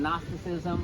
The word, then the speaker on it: Gnosticism: So Gnosticism is spelled with a letter you would never find if you were looking it up phonetically. You'd be looking for N-O-S.